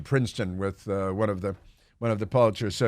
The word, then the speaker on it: Pulitzer: of Manhattan, you say Pulitzer because, your grandfather went to Princeton with one of the Pulitzers, so you say Pulitzer. But we call them Pulitzers because that's the way it's the common pronunciation, even if they're not common people.